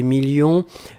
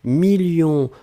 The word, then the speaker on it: millions: la fin 2 millions on ne prononce pas le s mais il est là ensuite signature mais ici